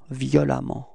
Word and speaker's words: violemment: So same concept, you pronounce it like if there was A, violemment.